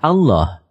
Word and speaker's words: Allah: lam yang dites dites lalu lam yang kedua dibaca tebal sehingga dibaca Allah demikian pendapat ahli bahasa